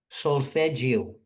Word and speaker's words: Solfeggio: And how would you spell that name so that people S find S it? O S O L Feggio.